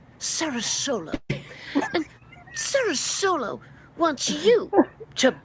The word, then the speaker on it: SaraSolo: Listen, Florida, I love Florida, and I love SaraSolo, although I thought it was pronounced differently, but apparently it's pronounced SaraSolo.